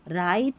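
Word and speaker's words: write: र पढ़ देना है, क्योंकि ये जो शुरू में डब्ल्यू आ रहा है ना ये साइलेंट है, आर का उच्चारण हो रहा है र, तो इसलिए डब्ल्यू आर को पढ़ा गया र। राइट, wrong, rap, रिस्ट, डब्ल्यू का उच्चारण हो रहा है, नहीं, डब्ल्यू साइलेंट है।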